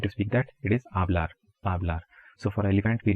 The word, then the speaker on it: hablar: going to speak so H is silent in Spanish in 99% of the cases for example if you